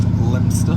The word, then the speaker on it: Leominster: leaving Liam insta now but I believe it just pronounced Leominster so confusing I think Ludlow